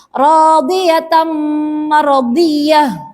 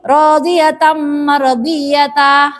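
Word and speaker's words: رَاضِيَةً مَرْضِيَّةً: Contohnya radhiyatam maradiyah. Seperti itu cara bacanya jika di akhir ayatnya ada tak marbutoh berharokat fathah tanwin. Tidak boleh dibaca seperti mat asli, radhiyatam maradiyata. Salah ya. Karena cara bacanya harus dibaca hak sukun.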